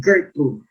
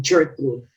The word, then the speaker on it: Gertrude: By the way, it's pronounced Gertrude. Gertrude, not Gertrude.